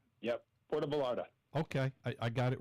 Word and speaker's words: Puerto Vallarta: I get the name wrong. Yep, Puerto Vallarta.